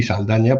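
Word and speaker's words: Saldanha: Bueno, pues hay un tren, una línea ferroviaria que conecta Saldaña, se pronuncia así Saldaña, porque lógicamente son enclaves portugueses, que está en la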